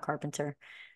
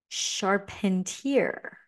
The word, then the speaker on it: Charpentier: It's not Carpenter. What was his last name? Emmanuel Charpentier. Sorry about that.